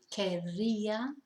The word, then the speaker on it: querría: And querer becomes quer with the double R, if you can roll your R's. If not, don't worry, just try your best as I do. So that would be querría, querrías, querría, querríamos, querríais, querrían.